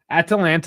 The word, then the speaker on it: Atalanta: Atalanta is hard too because there's Atlanta. Yes, it's an American city, but obviously there's a bunch of Atlanta sports teams.